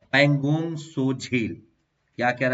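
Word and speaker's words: Pangong Tso: और अगला हमारा आज का टॉपिक है वो है पैंगोंग सो झील। क्या कह रहा है इसके बारे में देखिए। पैंगोंग, इसको तसो नहीं कहेंगे, ये 30 में साइलेंट होता है।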